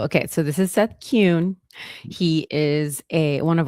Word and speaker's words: Kuhn: Um, pronounce it Cune. Okay. Cune.